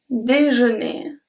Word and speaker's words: déjeuner: For example, un déjeuner. Un déjeuner. So do you hear? Des, and jeûner, né, same pronunciation.